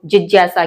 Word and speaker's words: जिज्ञासा: चर्चा की थी कि इस वर्ण को ज बोलते हैं, ज्ञ नहीं बोलते। सही उच्चारण इसका ज है।